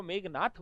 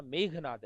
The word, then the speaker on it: मेघनाद: लोग इसको मेघनाथ बोलते, जबकि नाम क्या था, मेघनाद, मेघ की तरह गर्जन करने वाला नाद।